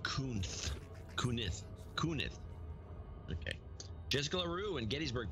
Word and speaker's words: Kunath: George Kunath, $106.53. It's pronounced Kunith.